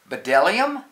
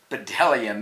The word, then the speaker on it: bdellium: feast B is for bdellium no it's for Dillingham we doubt anyone knows what bdellium is but it's the only word dumb enough to begin with a silent B the fascinating Tsar is